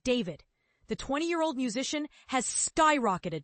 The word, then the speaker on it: D4vd: known to his millions of fans as D4VD, pronounced David.